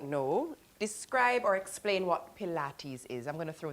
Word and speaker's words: Pilates: Now some people hear the word P I L A T E S which is pronounced Pilates and immediately picture something bendy and intimidating but AB lab fitness is changing.